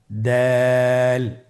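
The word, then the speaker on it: دال: দাল হরফটি বারিক হরফ। এই হরফটি উচ্চারণ করার সময় আমরা অবশ্যই 3 আলিফ টেনে পড়ব। দাল, আমার সাথে আবার বলুন, দাল।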